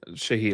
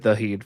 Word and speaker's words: Shaheed: What did I say his name? Shaheed. I said Daheed for some reason.